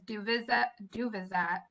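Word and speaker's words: Duvyzat: A question that came in earlier is Duvizat. I'm sure I said that wrong. My pronunciation skills.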